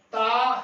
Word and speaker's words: تا: تے ہے حرف تے اس کا تے کا عربی اور فارسی زبان میں تلفظ تا ہے، یعنی کہ عربی میں عزیز طلبہ اور فارسی میں اس کا تلفظ بھی سیم ہے، یعنی کہ ایک جیسا جو ہے اس کا تلفظ ہے تے زبر الف تا۔ عزیز طلبہ تے جو